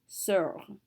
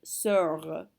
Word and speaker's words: sœur: So R is a careful letter, so we have to say it. So we're going to pronounce this sœur. You can hear the R when I say it, sœur.